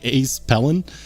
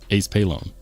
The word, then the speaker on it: Palone: I keep trying to say Ace Pellon, and you corrected me once in a live stream. You said it's pronounced like Palone. Ace Palone.